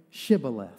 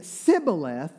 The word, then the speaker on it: Shibboleth: And he says, if they say no, tell them to say Shibboleth. And when they say Sibboleth, because the Ephraimites couldn't say the sh, they would say Sibboleth,